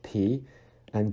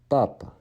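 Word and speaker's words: папа: And just like ga, you need to make sure that you don't breathe out that little puff of air that you normally breathe out in English. It's not like pa. It is papa. Papa.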